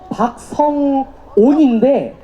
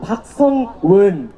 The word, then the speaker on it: 박성온: 박성온인데 자꾸 박성은, 박성은, 박성웅 이런 식으로 다들 발음을 하시거든요. 여러분들은 안 그러실 거죠?